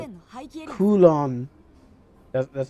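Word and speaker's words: Kowloon: ンの廃棄エリア Kulon. That's how you pronounce it.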